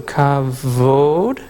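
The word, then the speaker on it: כבוד: We have a kaf with a dot, so it's a K sound. Bet with no V is V, so kavod.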